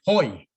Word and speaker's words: hui: Yeah, actually, it is spelled like hui, but it's hoi.